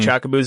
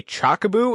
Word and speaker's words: Chocobo: chocobos or yeah chocobos you may hear me mispronounce the word CH Chocobo it's because I had a friend that used to say chaboo and for whatever reason he said it so much it rubbed off on me and that's the first